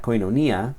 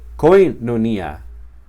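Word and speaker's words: κοινωνία: diferente cada vez, si alguna vez digo koinonia, luego koinonia, luego koinonia, luego koinonia, dejando caer el golpe de voz sobre sílabas diferentes cada vez, me será muy difícil aprender bien esta palabra y reconocerla en la lectura del texto. En cambio, si la pronuncio de la misma manera siempre, koinonia, me será más fácil.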